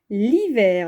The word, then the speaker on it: l'hiver: L'hiver avec L' parce que le mot hiver commence par un H muet, donc il ne compte pas, et c'est le I qui compte, c'est une voyelle. On ne peut pas dire ni le hiver, ni la hiver, on dit l'hiver.